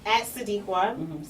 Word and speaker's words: Tsadiqwah: No, you can find me at Tsadiqwah. Sounds like an S, but it's pronounced with the S, but it's spelled with a T. It's TSADIQWAH, which is where you can find me.